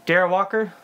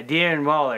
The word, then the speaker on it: Darren Waller: think you got him you've got uh uh daryl walker or oh uh um okay now that you said it wrong now i'm gonna say it wrong yeah aaron waller yeah darren waller yeah yeah who is a top josh two